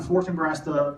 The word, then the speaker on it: Fortinbras: duel, King Hamlet killed Fortinbras, the father. So they both died. Now after that, we have Hamlet the son and Fortinbras or Fortinbras in different pronunciation, Fortinbras the son.